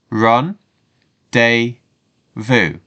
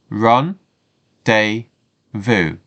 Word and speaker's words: rendezvous: as we said before this word is taken from French so it may sound